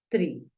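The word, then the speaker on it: tree: escrito acá tú dices se alarga un poquito el sonido no se siente mucho pero sí se alarga el sonido dices Tri así se dice árbol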